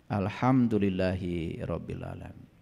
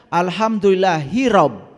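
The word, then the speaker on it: الحمد لله رب العالمين: kehidupan Oleh karena itu cara membacanya harus benar Alhamdulillahi rabbil alamin itu membacanya harus benar karena selama ini kita membacanya Alhamdulillah hirab hirab itu perang Coba lihat di kamus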